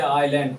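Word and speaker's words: island: है दूसरा जो है एस कब साइलेंट आता है जैसे ल है ए आई एस एल ल यल जैसे आइलैंड आई एस एल आलैंड ये एस साइलेंट रहता है ये एस भी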